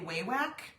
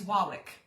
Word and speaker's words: Wawak: Most of us say Wawak. I called them because I wanted to know. It's Wawak, which sounds really weird.